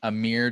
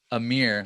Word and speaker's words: Amir: The guy named Amir Darak. I don't think I'm familiar with them. Oh, just like Amir, like I'm here to rock.